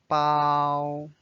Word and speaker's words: 包: to pack and then notice it's the first tone so it's a flat bow now let's read this